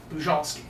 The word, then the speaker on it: Bujalski: pretty good yeah well I don't say it correctly either you don't okay yeah I saved the jalski that's how I grew up excited but uh you know if you go to Poland they'll correct you okay so polish last